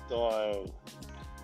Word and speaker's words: die: Der Mann, die Frau, but das Mädchen. Yeah, exactly. And then if it's singular and plural, it's like, it changes. Oh, so that's why there's a die.